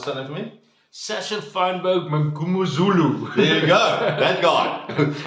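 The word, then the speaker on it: Mngomezulu: JP, did pronounce his surname for me? Sasha Feinberg Mangumuzulu.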